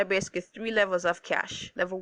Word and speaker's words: cache: Now cache memory, which the word there is C-A-C-C-H-E, is pronounced cache, right?